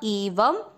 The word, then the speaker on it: एवं: पहला चरण ईव, व पे शब्द पूरा होने के बाद अनुस्वार है आधा म एवं, ब पूरा है, ब में अ मिक्स करना है बहुविधा, बहुविधा, य में अ मिक्स करेंगे यज्ञ।